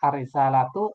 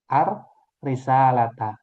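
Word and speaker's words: الرسالةَ: Nah, ini kalau kita baca ee huruf akhirnya mana yang benar? Arrisalatu atau arisalata? Iya, ar risalata.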